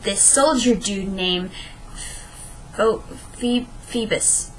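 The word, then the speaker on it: Phoebus: Soldier dude Nam Fe Feebas febus is how you pronounce it uh Feebas and if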